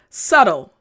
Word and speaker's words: subtle: subtle means not obvious again subtle good that b is silent subtle good and again